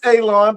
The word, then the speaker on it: Ailon: My name is Ailon, pronounced like you're going to cut grass, like you're going to cut a lawn.